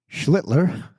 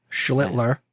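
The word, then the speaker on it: Schlittler: And now you got to say his name right, Schlitler. Schlitler.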